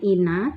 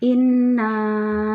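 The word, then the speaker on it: إنّا: nakal Kautsar nih ada huruf nun yang bertanda asli tngah jadi membacanya ditekan Inna ya Jadi bukan Ina tapi Inna nah ini ada tanda Ma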